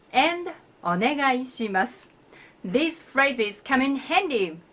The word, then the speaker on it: お願いします: お願いします. It has 7 syllables. Please remember to pronounce ga separately from i. It's not guy, but ga i.